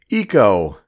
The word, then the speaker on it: Ico: about Eco in Idaho that's not how you pronounce that state I'm in I'm in Idaho and it's Ico no no no the game is Eco and the Eco is